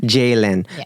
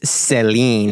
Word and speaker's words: Ceylin: your name say jayen jayen but how do you spell it c e y l i n I thought it was Seline or saline but it's not no okay so we'll